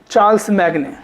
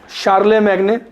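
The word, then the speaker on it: Charlemagne: और इस French literature का जो मेन उद्देश्य था वो था टू यूलोगाइज the deeds of चार्ल्स मैग्ने, शार्ले मैग्ने, सही प्रोनाउंसिएशन इसका, शार्ले मैग्ने के डीड्स को यूलोगाइज करना, यूलोगाइज गुणगान करना।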